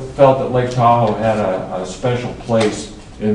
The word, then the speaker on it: Tahoe: heard it Danka Tahoe Tahoe rhymes with Washoe and that's kind of